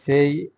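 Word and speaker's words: say: table তারপর আমি table Gusai there after I সেই এই যে সেই এটা সেই বললেন না সেই বললেন না এটার উচ্চারণটা দ্বৈশর উচ্চারণ হয় আর সে হবে না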